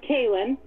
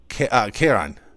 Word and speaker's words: Karen: So I've got it as Kaylin. No. Karen. Karen. It's the male pronunciation of it.